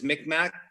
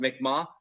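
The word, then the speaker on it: Mi'kmaq: so my mom is mick mac which um is pronounced actually pronounced mikma my dad's uh metis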